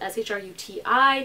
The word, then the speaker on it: Shruti: It's spelled S-H-R-U-T-I, not S-H-R-O-O-D-I or D-Y or any other ridiculous possible way of spelling it. I just say Shruti because that is the westernized way of saying my name.